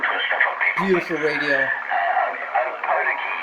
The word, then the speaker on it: Opotiki: Opotiki is the pronunciation. That's how I say it. The native of New Zealand would say it different to me, Just wait till I might get the contact.